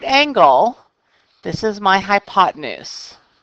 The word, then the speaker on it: hypotenuse: angle this is my hypotenuse I spell it hypo ten use but it is pronounced hypotenuse the two sides that